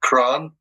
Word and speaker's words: Kraan: Well, there's a band I like very much who still exists called Kran, which is spelled Kraan, from Germany.